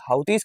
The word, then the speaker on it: Houthi: अच्छा, इसको हुती हाउती कुछ भी पढ़ सकते हो भैया। ठीक है, बेसिकली इसका correct pronunciation if आई एम not wrong तो हाउती होता है।